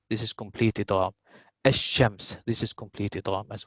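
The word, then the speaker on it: الشمس: So what happens in ash-shams, we do not pronounce the lam.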